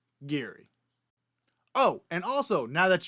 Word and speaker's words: Giri: And I've heard his last name pronounced Giri with a sad, soft G. So the next time you watch this Dutch grandmaster on either Twitch or YouTube, you can confidently pronounce his name as Anish Giri.